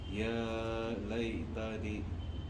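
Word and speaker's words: يا ليتني: या लई तनी और खींचना है इसको, या लई तनी ये प्रैक्टिस असल है, मश्क करना असल है।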